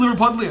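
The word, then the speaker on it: Liverpudlian: I believe it's actually liver pudlan is how you say that. It's from Liverpool.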